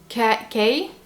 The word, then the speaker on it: Kenneth: K-E-N-N-E-T-H. Kenneth. Kenneth. Kenneth. Kenneth. Yeah. Kenneth. Kenneth. Kenneth. You have to push more air. The. The. Kenneth. Kenneth. Yeah, Kenneth. What? I look dumb? No, I look dumb. Kenneth.